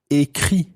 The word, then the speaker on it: écrit: Okay, so if you say, I have written, then you would say, j'ai écrit. J'ai écrit. So, j'ai écrit, I have written. Now, écrit, this time, is spelled E-acute, C-R-I-T.